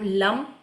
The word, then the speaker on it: लम: English में एल ए एम लम और हिंदी में ल और ऊपर बिंदी लम।